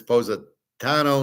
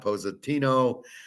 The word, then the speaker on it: Positano: Oh, Howard, it's Positano, not Positino."